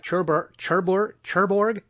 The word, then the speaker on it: Cherbourg: that same year had the Cherbourg, I can't pronounce this right, Cherbourg, thank you, Cherbourg Octaville Festival of Irish and British Film Best Actor for Shut Up and Shoot Me.